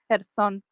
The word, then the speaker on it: Kherson: It's Kherson. You write Kherson. you write the K, but you don't say the K. So it's Okay. Kherson as it is.